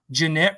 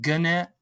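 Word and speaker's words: Gennett: you're into like vinyl there's old records called jeanette records yeah some people call uh pronounce it gunette that's jeanette records yeah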